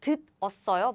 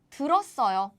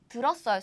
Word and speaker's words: 들었어요: So it's not 듣었어요, but it's 들었어요. 들었어요. That's the right form.